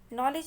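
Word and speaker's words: knowledge: नॉलेज में हमको 2 letter silent समझ में आ रहे हैं, एक है के और दूसरा है डी, तो नॉलेज.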